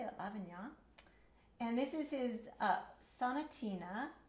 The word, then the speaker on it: Lavignac: Lavignac.